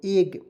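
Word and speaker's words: egg: यहाँ पे देखेंगे ई डबल जी, तो ई से ए लिखेंगे, जी का उच्चारण ज के रूप में एग।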